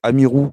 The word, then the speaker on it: Amirou: donc moi mon adresse mail c'est Amir Amir Amirou phenex donc tout attaché Amirou comme ça se prononce am i r o u fenex attaché